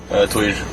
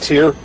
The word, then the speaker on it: Týr: How do you pronounce it? Tuir. Tuir, not Tyr. No, but we accept. I mean, we don't expect everyone to speak Faroese. English-speaking people usually say Tyr, and that's what we expect them to say.